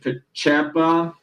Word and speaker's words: Pacepa: And basically, this guy, Pacepa, this is how you would pronounce his last name.